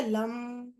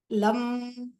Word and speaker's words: लं: है उसका बीज मत्र होता है लम उसको प्रोनाउंस कैसे करते लम लम सेकंड हम स्वाधिष्ठान चक्र पर जा रहे इसका